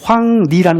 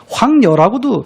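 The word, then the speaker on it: 黃鸝: 수전에 하얀 백로는 날아가고 그름 구름 아 그늘짓은 여름 나무에는 꾀꼬리 황리라는 것이 쇠꼬리입니다. 황녀라고도 어 발음하는 분들이 있는데요.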